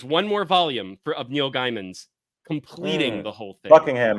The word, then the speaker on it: Gaiman: Gaiman, because it's like rye, like RAI. So it would be GAI, like Gaiman. Not Gaiman.